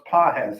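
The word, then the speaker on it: Pagés: His name is is spelled pages but it's pronounced pahes. Andy pes.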